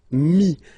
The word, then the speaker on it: mis: And then mettre, to put, so e-t-t-r-e, will give you this is. Mi, same thing here, final s is not pronounced.